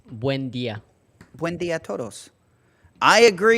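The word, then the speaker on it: Buen día: It's Buen dia.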